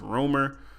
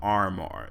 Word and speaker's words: RMR: He said it's pronounced Rumor, but you can call him RMR if you want.